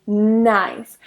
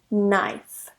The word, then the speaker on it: knife: is not it's actually nice whenever you have a K and n at the beginning of a word that K is silent so I don't say tonight I say nice some of the examples